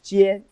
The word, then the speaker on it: 尖: So that's pronounced as jian, jian, jian.